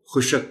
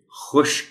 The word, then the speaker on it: خشک: حرف پر جزم ہے۔ کتنے لوگ ہیں جو اس کو خشک بول دیتے ہیں، تاہم یہ لفظ درست طور پر بولا جائے تو پھر یہ خشک ہے۔ نکاسی، نون کے نیچے